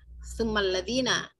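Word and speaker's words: ثُمَّ: Nah, kita kalau lagi apa namanya lebih baik dia ditekan, kalau ada tasydid ditekan yang jangan kurang penekanannya. Summaladina yalunahum, summaladina yalunahum ya.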